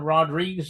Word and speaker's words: Rodrigues: Well, yeah, look up Rodrigues. It like he said, it sounds like Rodriguez, but with it's an S and it's a different pronunciation altogether.